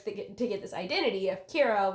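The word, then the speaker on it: キラ: After a while, like, killing all these people starts to get this identity of Kira, which is a Japanese pronunciation of the English word killer.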